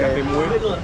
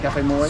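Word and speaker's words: cà phê muối: How do you say it? Cafe. Café muet. Cafe Moy.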